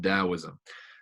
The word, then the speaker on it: Taoism: Even though it's spelled with a T, it's pronounced Taoism.